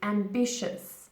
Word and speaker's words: ambitious: in this word now the correct pronunciation is ambitious and B shifts and B shifts shifts not and it's yours no and be sure ambitious now if somebody is